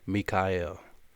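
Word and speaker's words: מיכאל: the name of the Archangel Michael in Hebrew pronounced Mikhail and it means who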